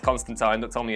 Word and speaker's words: Constantine: that he was in, Constantine, and it is pronounced Constantine, don't tell me it's not, I'm from Liverpool,